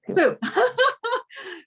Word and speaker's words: Phu: I'd like to introduce Fu. Am I getting your name right? Fu, can you pronounce that for me? Just don't want to mess it up. Yeah, that's correct. That's my name. Okay, Fu.